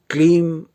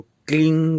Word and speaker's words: क्लीं: से करते हैं लेकिन इसका उच्चारण आप इसको क्लीन करके करिए क्लीन करके करिए जिसमें ना ग की ध्वनि अंत में आए और ना म की ध्वनि लेकिन यह मंत्र काम